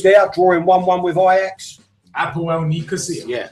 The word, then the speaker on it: APOEL: Apoel Nicosia. Yeah, Abwell is pronounced. My missus is a bubble. It's pronounced Abwell. The P is pronounced like a B. So you say Abwell.